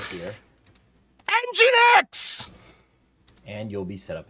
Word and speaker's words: Nginx: It's Engine X. Pi-hole as my DNS. So, first off, you're going to want to go ahead and go to Nginx RIGHT HERE. ENGINE X.